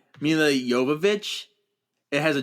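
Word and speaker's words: Jovovich: Evil movie commentary and she's like, "It's Yovich." She kept saying it. She kept correcting people. It's Yavovich. because even her castmates kept saying it wrong.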